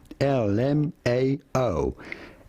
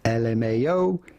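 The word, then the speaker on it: LMAO: Well, it's pretty much like when you spell out every letter of the word L M AO. L M AO.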